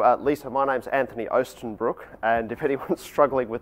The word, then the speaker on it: Oostenbroek: So, uh, Lisa, my name's Anthony Oenbrook, and if anyone's struggling with the pronunciation, I hope that's a little bit clearer.